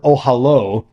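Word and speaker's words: אהלה: Now Rashi comments on the word ohalo. The word ohel means tent. So ohalo means his tent, which is pronounced consistent with its usual spelling, as if the last letter were the letter vav in Hebrew, the masculine possessive suffix meaning his tent.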